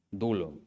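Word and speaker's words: doulos: la palabra siervo, siervo, o dulo, se escribe duolos, dulo.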